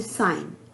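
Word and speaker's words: sign: साइलेंट कर देते हैं जैसे साइन एस आई जी एन तो ए से पहले जी आया तो जी साइलेंट होगा साइन जी की उच्चारण हम नहीं कर रहे हैं इसी तरह से डिजाइन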